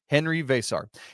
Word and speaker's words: Henri Veesaar: Henry vasar.